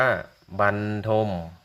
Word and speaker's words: บรรทม: ใบ ไม้ รอ เรือ ให้ สังเกต ตรง บ ใบ ไม้ รอ เรือ จะ อ่าน ว่า บัน ถ้า มี การ อ่าน